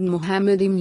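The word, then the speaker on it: מחמדים: The word Muhammadim used in Bible means the praised one. If someone asks a Jewish rabbi how the word is pronounced, he will say Muhammadim.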